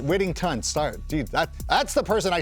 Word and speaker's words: Whittington: So Jordan Whittingham is Whittington.